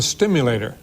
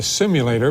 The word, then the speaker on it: Stimulator: and I called the stimulator occasionally people mispronounce it and they call it the simulator but I think the